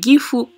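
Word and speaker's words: GEFU: de chez gfu donc ça se prononce giffon français et gif ou en allemand c'est une marque allemande qui garantit s'est produit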